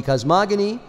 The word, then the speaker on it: cosmogony: mysticism mystical cosmogony yes it's g a hard G cosmogony and mystical psychology the